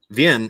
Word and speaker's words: Wien: So Vienna, capital of Austria, it's pronounced Wien.